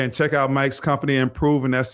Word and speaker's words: Impruve: Yeah, and check out Mike's company, Impruve, and that's spelled IMPRUVE.